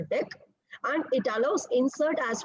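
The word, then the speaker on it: deque: Okay, and this is generally pronounced as a DEC and it allows insert as well as delete at both the ends.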